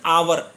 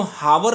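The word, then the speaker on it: hour: में आ रही है इसी तरीके से आवर इसको हावर नहीं बोला जा रहा है आवर यहां पर भी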